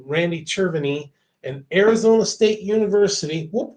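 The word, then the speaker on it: Cerveny: how and why it occurs," said said Randy Cherviny, an Arizona State University.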